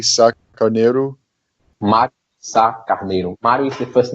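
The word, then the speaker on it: Mário de Sá-Carneiro: Mário Sá Carneiro.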